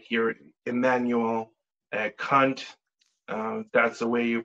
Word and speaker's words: Kant: the teachings of this man right here, Immanuel Kant. That's the way you pronounce his name.